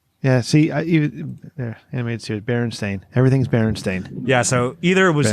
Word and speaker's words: Berenstain: It's in cursive, and there's already two E's before that A, and so you're doing Berenstain.